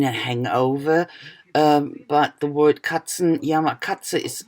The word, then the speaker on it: Katzenjammer: It's a bit difficult for English-speaking people to pronounce it, I think. But it's not that difficult, I think. Should be possible. Katzenjammer. It just could mean a hangover. But the word Katzenjammer, Katze it's a cat.